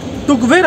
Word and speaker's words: Tukvar: এই জায়গাটার grammatically pronunciation টুকবের হলেও লোকাল লোকেরা কিন্তু একে টকবর বলেই বলে।